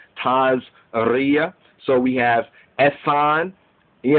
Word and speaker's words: Tazria: you know that E-T, like some say TAZRIA, Ashkenazi Jews will say TAZRIA, but Sephardic and other Jews will more pronounce it as TAZRIA.